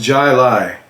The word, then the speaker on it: Jai Alai: it to yourself to try this beer it's pronounced jai lai and that's a spanish sport in the basque